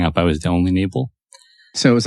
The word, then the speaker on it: Knable: the jidor naal with welcome to the podcast thank you I'm happy to be here you have a K in your name but it's silent it's always been silent